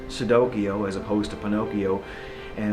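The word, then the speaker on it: Cicidokio: children's fairy tales like sudokiyo as opposed to pinocchio and instead of and not it's spelt c-i-c-i-d-o-k-i-o even though it's pronounced like with an s but it's actually with the c and it's it's like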